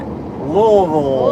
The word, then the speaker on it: Louisville: If you want to say Louisville like a native, you don't enunciate any part of it. You just make a noise from your throat.